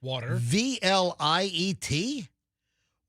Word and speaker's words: Watervliet: Water. VLIET.